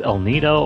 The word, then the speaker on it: El Nido: if this is pronounced el nido or el nido judging by its spanish origins i'm pretty sure it's pronounced el nido okay so